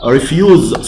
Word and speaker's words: refuse: something refuse refuse refuse here the stress on the second syllable refuse something not do something